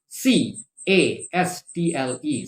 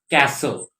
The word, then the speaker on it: castle: last one c a s t l e c a s t l e c for charlie c-a-s-t-l-e castle please don't pronounce it as castle some people try to put on an accent